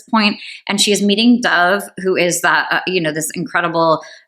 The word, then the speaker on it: Dove: Interestingly, Gabrielle Zevin in interviews pronounces it Dove, but in the audio version they pronounce it, the narrator pronounces it as Dove. So I'm not sure how we're going to pronounce that. I'm going to go with Gabrielle Zevin's pronunciation of it, which is Dove.